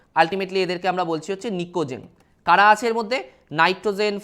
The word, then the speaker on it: pnicogen: Group 15টাকে আমরা বলি হচ্ছে নিকোজেন, PNICOGEN। এখানে পিটা সাইলেন্ট থাকে।